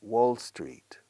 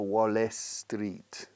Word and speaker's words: Wall Street: a sentence you know this is Wall Street Wall Street no Wallace Street okay Wall Street Bruce Springsteen Bruce Springsteen